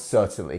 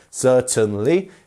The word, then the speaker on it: certainly: definitely do that um and how would we pronounce certainly can you tell me where our stressed syllable is it's our first one right we have three syllables certainly and it's our first one as we have